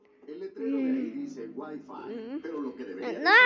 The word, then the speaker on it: Wi-Fi: What to do, fire? De hecho, se pronuncia Wi-Fi.